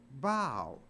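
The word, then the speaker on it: bough: u g h but it's not pronounced buff it's pronounced bow so even O A.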